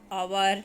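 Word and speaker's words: hour: Wednesday, ओवर, knife, com, sign. Wednesday में डी, ओवर में H, knife में के, कॉम में बी, साइन में जी. साइलेंट है.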